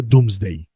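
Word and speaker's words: Domesday: sobre la historia inglesa, se pronuncia do Day, pero se escribe Domes Day. D O M E S D As. No porque los Normandos no supieran deletrear, sino porque dome se pronunciaba doom antes del gran cambio vocálico.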